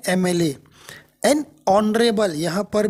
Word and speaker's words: MLA: लेकिन इनका जो उच्चारण है, इनका जो प्रोनाउंसिएशन है वो है हिंदी का ए से शुरू होता है, एम एल ए। तो एम का मतलब जो हिंदी का वॉवेल आया ए, उससे है एन एम एल ए।